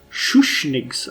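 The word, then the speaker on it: Schuschnigg: sh no it's sh shush Yeah shush wow shush nigs I was mispronouncing that brutally shush statement appeared to suggest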